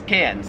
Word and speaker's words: Cairns: it wouldn't matter because the australian accent just leaves the r off if it's ever in the last syllable of a word so you would pronounce melbourne melbourne and you would pronounce karen's cans let me know in